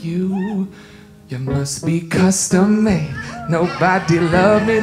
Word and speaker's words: Kustom Made: This is a song called Custom Made, but it's spelled custom with a K.